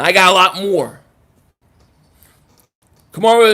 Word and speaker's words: Kamara: Kamara is how you say it, not spell though.